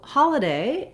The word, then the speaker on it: holiday: So holiday has first syllable stress, and letter O in holiday says the ah sound.